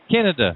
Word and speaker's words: Kenneda: Kenny, I know I'm going to mispronounce it. Kenneda? It's Kenneda.